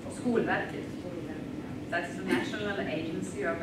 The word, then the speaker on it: Skolverket: So questions either about preschool in Sweden or about the, how do you say, Skolverket? Skolverket.